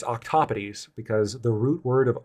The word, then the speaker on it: octopodes: in multiples of them, you would call them octopodes. That's the correct pronunciation if you want to follow the rules of grammar.